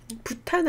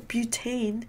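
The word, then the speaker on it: butane: 부탄 아니죠? 뷰테인. 메탄 아니고 메테인. 나트륨은 라틴어로 맞아요, 맞아. 어쨌든 영어 발음은 이건데 이제 바뀌게 되는 거죠.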